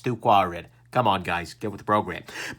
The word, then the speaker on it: 2Quared: side two-quadrant really like I know you think that that's pronounced squared but it isn't it's too quiet come on guys get